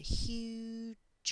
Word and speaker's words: huge: telant beautiful lutang and huge octopus this word here ends with a written vowel but that is a silent vowel so the actual sound at the end is a consonant sound huge all right so now